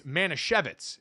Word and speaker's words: Manischewitz: It's Manischewitz is the way the brand is pronounced from this and our story about Jake Retzlaff.